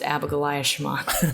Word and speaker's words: Abigoliah Schamaun: It's pronounced Abigoliah Schamaun.